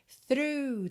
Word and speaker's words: through: de verde que é para você ter atenção through tá para quem tá ouvindo no podcast t